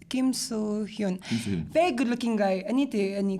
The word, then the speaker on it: Kim Soo-hyun: Like Kim, how do you pronounce his name? Kim Soo-hyun. Kim So-hyun. Kim So-hyun.